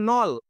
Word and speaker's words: knoll: And hair on a grassy নল, এই যে KNOLL এই শব্দের উচ্চারণ হচ্ছে নল।